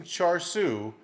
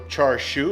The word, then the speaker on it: char siu: to be making some charsu smoked ribs stay tuned all right let's get started on this Char Su video or Char Shu if you want to pronounce it correctly I've got a full